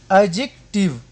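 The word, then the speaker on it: adjective: ډي توری کله چې د جې یا جی څخه مخکې راشي نو د ډي توری نه تلفظ کېږي، ساکن کېږي. لکه اگزامپل: اجیکټیو یا صفت.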